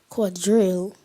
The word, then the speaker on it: quadrille: Quadrille. Quadrille. Am I pronouncing the word correctly?